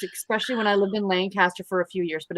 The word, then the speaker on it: Lancaster: I used to read a ton of Amish books, especially when I lived in Lancaster for a few years, but it's been a long time. Right. And it's pronounced Lancaster.